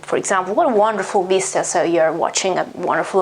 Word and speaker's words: vista: than the italian one vista vista vista is the italian pronunciation of course vista is quite similar just the final a is a bit different but it's not that different and the meaning is